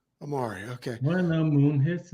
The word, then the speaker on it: Amaury: it that way when I sent the email Mari what's going on brother am I saying your name correctly perfectly Omari Omari okay when the moon hits the sky like